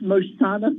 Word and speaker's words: Mersana: how do you say your company uh it's mursano therapeutics and you pronounce my name perfectly okay thank you thank